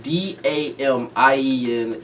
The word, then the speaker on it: Damien: So, the pronunciation of D-A-M-I-E-N is Damien. Pronunciation of D-A-M-I-O-N is Damian.